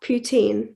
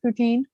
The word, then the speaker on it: poutine: what's yours it's just putin do i say it right yeah well it it depends on where you're from really like i say it uh like where i live we say is poutine yeah but if you're